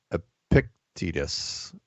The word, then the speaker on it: Epictetus: Let's jump over to Peanut Gallery saying it's pronounced Epictetus.